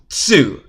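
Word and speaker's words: つ: And that is because these 2 characters are not pronounced T and Tu, but Chi and Tsu.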